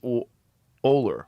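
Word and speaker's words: Norman Ohler: It's called Blitzed um by um how do you pronounce his name? Orman. Norman Oler, right?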